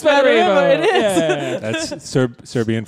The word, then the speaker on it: Smederevo: Smederevo. Wait, what? Smederevo. Yeah, It's Smederevo. It is. Yeah. That's Serbian for smegma. Smederevo.